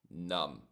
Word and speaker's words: numb: When our fingers feel a little numb, notice numb is silent B. Silent B. So the pronunciation is numb.